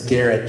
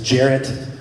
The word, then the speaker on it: Garrett: house what's your name when I say my name is Garrett she says Jarrett so Jared she says Gareth and I was like